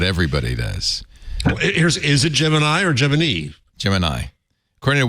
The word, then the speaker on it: Gemini: Texas uh wrote about so which is it how do you pronounce pronounce Gemini first man a new film about Neil Armstrong has I'm saying it both ways oh wow I think